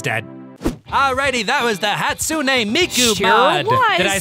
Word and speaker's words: Hatsune Miku: it but everyone's dead alrighty that was the hatsune miku did i say that right weebs did i